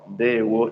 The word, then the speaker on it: Ndewo: No, Ndewo, that's how we say welcome in Igbo language.